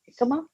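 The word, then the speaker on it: jícama: And now it's either, lettuce wrap or the jicama. Jicama. Yeah, jicama. Even though it's a J, that you say it like an H, right? Jicama, H.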